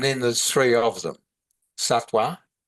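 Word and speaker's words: sattva: Satwa s a t w a. Sometimes it's spelled s a t va but pronounced www.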